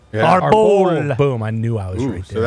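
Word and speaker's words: árbol: How do you say tree in Spanish? I thought it was arbor. Como se dice tree in Spanish? You're close there. I thought it was like A-B. It's arbol.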